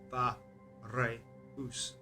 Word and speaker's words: Fareus: to the nature of it's just one syllable, Far, rather than Fa, Re, Us, the three syllables, Fareus.